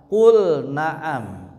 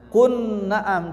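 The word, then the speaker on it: قُلْ نَعَمْ: Qul naam. Nah, ya. Qul naam tidak dibaca Q naam.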